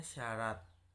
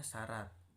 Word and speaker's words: syarat: Nah, yang terakhir ada konsonan rangkap khusus, contohnya syarat, nah ditulisnya sy a, nah gitu, tapi dibacanya syarat.